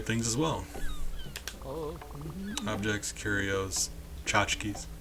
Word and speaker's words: tchotchkes: Objects, curios, tchotchkes. You guys didn't think I would know how to pronounce that word. Stop, get out of here. It's tchotchkes.